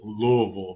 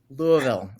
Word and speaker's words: Louisville: when you say Louisville you have to mumble it here in the south is roll Louisville rolls off your tongue Louisville okay Louisville right well